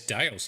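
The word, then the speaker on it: The Dalles: if that's where they stole the name yes dales yeah cool cool cool there's a there's a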